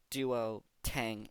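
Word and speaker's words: Duotang: g right yeah but the actual word is just Duo tang tang like the beverage do tang yeah do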